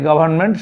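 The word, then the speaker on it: Govt.: তাহলে এই গভর্নমেন্ট কথাটাকে শর্টকাটে বোঝা যাচ্ছে GOVT, এটা গভট না, এটা গভর্নমেন্ট সংক্ষিপ্ত আকারে লেখা হয়ে থাকে।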